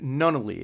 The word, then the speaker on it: Nunnally: But tonight's highlight is going to specifically be, I have with me here, Doug Nunnally. Is that how your last name is pronounced, correct?